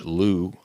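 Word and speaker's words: loup: Lou and in French Lou means wolf spelled l u p but the p is silent so that's a bit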